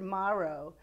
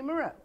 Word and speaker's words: Moroux: flowed much better and and I never heard heard Maro until I saw it phonetically spelled and then I went wait a minute I've been mispronouncing my last name all these years and